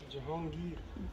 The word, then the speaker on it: Jahangir: Jahan, what's the pronunciation? Jahangir.